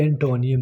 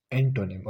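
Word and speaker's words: antonym: और इट is please ये एंटोनियम नहीं है, यू can pronunciate is एंटोनिम, okay.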